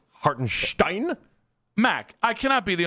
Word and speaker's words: Hartenstein: This is how you say Hartinstein where you do like your Germanstein.